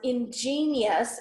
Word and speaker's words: ingenious: Ingenious is pronounced with 3 syllables, but thinking 4 syllables when writing it will help you remember the second I, ingenious, okay?